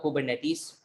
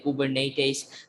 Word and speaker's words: Kubernetes: तो वो तो पर्सनली मैं इसी को ही पसंद करता हूँ, कुबरनेटिस। ये प्रोनाउंसिएशन मेरे लिए भी ज़्यादा बेहतर है, लेकिन कुछ लोग इसको इस तरह से भी प्रोनाउंस करते हैं, कुबरनेटिस। सबका अपना अपना प्रेफरेंस के ऊपर है।